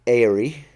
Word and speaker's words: Eyrie: Their seat is the Eyrie. I say Erie, but you have a slightly different accent.